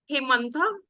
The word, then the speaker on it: Hemantha: Hemantha, am I pronouncing it right? Yes, exactly. Correct. I am Hemant.